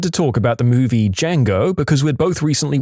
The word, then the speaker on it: Django: at her and said the D is silent peer reviewing in high